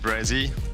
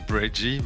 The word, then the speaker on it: Brezzy: Just Brezzy. Like SZ. I know it's hard to pronounce because it's half of my name. It's just say Brezzy and not Breggy, but you can say whatever.